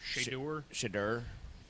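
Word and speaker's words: Shedeur: He, Shadur, how do you pronounce his name? Shadur.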